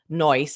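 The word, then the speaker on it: Noice: And so there these there have been these great guys that have built an app called noise. So it's like nice but spelled like n o i c e.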